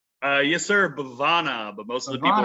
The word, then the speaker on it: Bevana: aaron gore brevano bovano uh that's how you pronounce that right uh yes sir bavana but most of the people around the lake